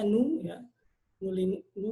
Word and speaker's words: GNU: kita akan membahas mengenai KMU atau sebetulnya dibacanya nu nu nu atau Linux kemudian ada